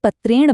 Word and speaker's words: पत्रेण: अगर शब्द में कहीं भी र, श या री की ध्वनि आ जाए तो उसके बाद आने वाला न अपनी जगह बदलकर अण हो जाता है। ये असल में उच्चारण को और स्मूथ बनाने के लिए होता है। इसीलिए पत्र शब्द में र होने की वजह से पत्रेण नहीं बल्कि पत्रेण बनता है ना दिलचस्प?